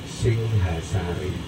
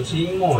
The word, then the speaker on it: Singhasari: Dalam huruf Palawa, itu atau Sanskerta dibacanya Singhasari. Bukan Singo ya, tapi Singhasari yang artinya yang menjadi dasar.